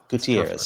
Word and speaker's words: Gutierrez: How do you pronounce Gutierrez? Gutierrez.